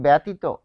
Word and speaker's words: ব্যতীত: দেখুন জফলা যেমন ব্যতীত ব্যতিত এটার উচ্চারণ কি হবে? এটার উচ্চারণ হবে বেতি। কারণ কি? এখানে জফলা রয়েছে। জফলার পর কি রয়েছে? দীর্ঘই রয়েছে। জফলার পর ত এর সাথে দীর্ঘই রয়েছে। তাহলে এই জফলার কারণে এখানে হবে একার।